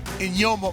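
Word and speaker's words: Eyioma: spencer jonathan congo the rookie matt henningsen and inyoma uwazurike there's no n in there but i asked him how do you pronounce it he told me in yoma and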